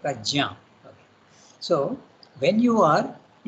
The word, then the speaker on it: Prajna: In our Indian languages it is Yajna, we say. Pragya, we say. But actually the name is Sanskrit, so you have to pronounce it Prajna.